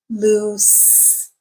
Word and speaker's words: loose: S sound okay so they sound alike but they don't sound the same the vowel sound is the same but the consonant sound at the end is different one is a voiced sound in lose and the other one is an unvoiced sound loose okay so the adjective